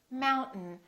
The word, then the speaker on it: mountain: thing t plus m this a i these two letters are not pronounced we don't say mountain we say mountain mountain this syllable is stressed therefore the second syllable is reduced and the vowel disappears so we say mountain don't say mountain don't release your tongue